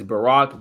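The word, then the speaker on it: Ba'Roc: spelled his name wrong but it's Barack ba apostrophe Roc Willis uh kid is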